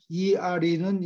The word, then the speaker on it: ere: 축하하는 주간이 in the midst, 한 가운데에 and ERE는 이게 문어예요. 말할 때는 잘 안 써요. 말할 때 얘기하면은 이 사람이 무슨 말을 하나 이렇게 못 알아들어요. air가 꼭 공기라는 air하고 발음이 똑같아요.